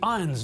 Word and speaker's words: Irons: Jeremy Irons' name is pronounced Jeremy Irons, not Jeremy Irons.